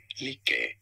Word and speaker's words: Lycka: In Swedish, this is said as Lycka.